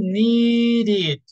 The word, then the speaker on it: needed: okay start kid okay that only happens only happens when the end the verb ends in t or D example needed okay one is okay we add an extra syllable do you understand guys